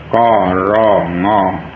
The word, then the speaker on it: กรง: ถึง คำ ว่า กรุง ก ร ง อ่าน ว่า กรุง ใคร ๆ ก็ เคย